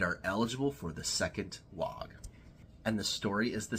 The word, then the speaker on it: Waaagh: And as an aside, don't at me for saying the G. Everybody knows that orcs from south of the galactic equator pronounce the G.